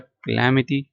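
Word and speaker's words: calamity: need bond requirement demand necessity जरूरत हाजत accidents मिसहब क्लमिटी क्लमिटी miss chance हादसात क्लटी नहीं पड़ना ठीक है क्लमिटी क्लैमिटी क्लैमिटी ठीक है क्लैमिटी मटी हर्ट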